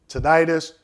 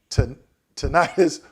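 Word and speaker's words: tinnitus: Now, the last one, ringing in the ears, tonitis, tonitis, or tenitis. Okay? However you want to pronounce it, but ringing in the ears.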